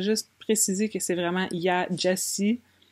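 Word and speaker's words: Gyasi: de finir Homegoing par, je pense que c'est prononcé Jessie. C'est comme quasiment Jessie, le nom de famille. Salut, excusez la mauvaise qualité, je voulais juste préciser que c'est vraiment Jessie, prononcé comme Jessie.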